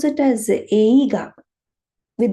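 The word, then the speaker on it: 映画: Movie, we say eiga, right? We will pronounce the word movie as eiga.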